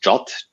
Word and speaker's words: JWT: pronunciation and it's uh the english word jot j-o-t is how you should refer to it um i think that